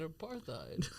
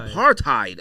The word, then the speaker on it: apartheid: said what he said apartheid what is that you don't pronounce the h but oh apartheid Oh I thought it